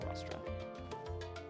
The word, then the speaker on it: Rostra: That's how you say it, Rostra.